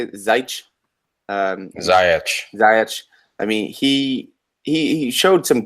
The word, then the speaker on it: Ziyech: Ziyech.